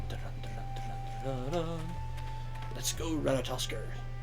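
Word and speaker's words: Ratatoskr: Let's go, Ratatosker. Or Ratatosk, technically. I'm pretty sure the R is at the end is silent. But it's just fun to say Ratatosker instead.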